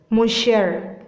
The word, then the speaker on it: monsieur: So you need to pronounce it as creme brulee. Creme brulee. Fifth one. Monseiur. Monseiur. Monsieur.